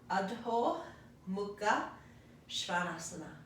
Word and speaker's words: Adho Mukha Svanasana: Adho Mukha Svanasana. Adho Mukha Svanasana.